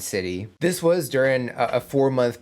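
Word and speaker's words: Siti: And I also learned how to pronounce everyone's names and what they typically go by. So we have Marsha, Wedi, and City.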